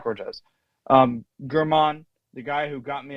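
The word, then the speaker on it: Germán: German, the guy who got me a lot of points in or is it Herman? How do you pronounce it? Herman.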